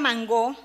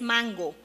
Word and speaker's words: mango: a la palabra mango puerto rico es el único país de habla hispana que lo pronuncia con acentuación occitana o aguda al modo francés y afro francés igual que mango tin el resto de los hispanohablantes ha cogido la pronunciación para occitanas o llana del inglés mango que se justifica porque